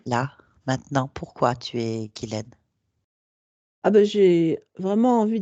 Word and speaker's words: Guylaine: Guylaine, je ne sais pas pourquoi je vais vous appeler Ghislaine, ça m'énerve depuis le début. En fait, ça s'écrit Ghislaine, mais ça se dit Ah, Guylaine.